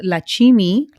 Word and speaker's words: Lakshimi: So Lakshimi is the Lakshimi. nickname, and my birth name is Lakshmi, or also pronounced Lakshmi.